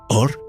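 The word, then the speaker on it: אור: Or, pronunciado igual, escrito diferente. Dos palabras, dos significados, un solo sonido. Or, escrito con Aleph, Vav, Resh, significa luz.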